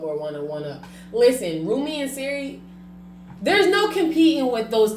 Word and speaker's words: Sir: They snapped with the blue Rumi and Seri. And they snapped by patenting the Rumi and Seri. I thought it was Sir Carter. Siri, whatever. It's Sir. Sir and Rumi.